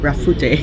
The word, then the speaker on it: Rafute: Rafute, yeah.